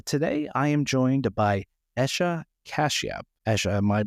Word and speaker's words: Esha Kashyap: Bitcoin and freedom today I am joined by Asha cashia Asha am I pronouncing your name correctly yes you are Adam